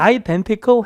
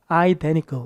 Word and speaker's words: identical: 미국 사람들은 N 다음에 T 발음을 잘 안 해요. 그러니까 identical 해도 되지만 뭐라고 해도 돼요? identical 이렇게 흘려도 돼요.